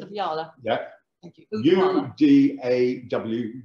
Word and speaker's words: Udawalawe: Udawalawe. U-D-A-W, W is pronounced V, so Udawalawe.